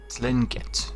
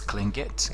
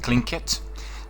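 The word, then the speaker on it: Tlingit: called um klinket and if you were looking at the meaning of the words it looks like you could pronounce it as linget but actually it's clingit clink it i researched that a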